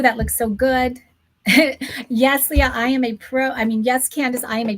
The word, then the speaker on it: Leah: It's Leah. I'm so sorry. The E threw me off. So she's saying L, if you can see it in the chat, it's L-E-AH. So it's Leah.